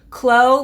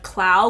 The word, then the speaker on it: Clow: It's Clow, like glow, but with a C instead of Clow, which is how I was originally saying it.